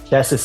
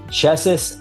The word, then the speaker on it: Česis: Česis is spelled Cesis. Česis and Kuliga are very historic and interesting, charming